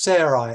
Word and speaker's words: Sarai: his wife's name was Sarai, S-A-R-A-I, with the A-I pronounced with an I name, and their names are changed.